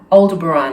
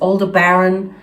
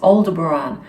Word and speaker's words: Aldebaran: the name aldebaran and exactly that's how it's pronounced aldebaran and i've heard people pronounce it as older baron it's not that i've heard it from the star people themselves it's aldebaran and in fact it's funny because when i